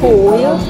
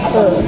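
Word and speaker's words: phở: Actually, walaupun ejaan dia PHO, dia bukan pole, dia fur.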